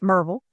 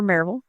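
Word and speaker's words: Maryville: It's spelled Mville. No one says it that way. It's Marvel or Marville.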